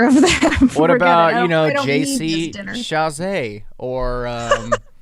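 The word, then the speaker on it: Chasez: What about JC Chazé or right? That's his last name. That's how you pronounce it.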